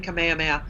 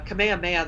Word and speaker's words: Kamehameha: Kamehameha, first of all, it's spelled with a T, Kamehameha, which was common at that time. And the K and the T sound in the Hawaiian language to the English-speaking ear are not easily distinguished.